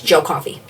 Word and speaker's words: Joe Coffey: And Flash's reasoning is literally because if you say his name quick enough, it's Joe Coffey.